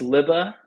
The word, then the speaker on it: Lubbe: Um, I didn't say your last name because I forgot how to pronounce it. Why don't you drop it for It's me real okay, quick? man. It's Lubbe, but honestly, it is such a weird last